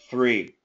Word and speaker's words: three: it was much better don't move the tip of your tongue keep it there get a full th three three three three